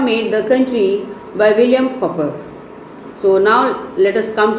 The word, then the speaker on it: Cowper: The pronunciation is William Cowper, C-O-W-P-E-R. It's Cowper, not Cooper. Cooper is C-O-O-P-E-R, but it is C-O-W-P-E-R.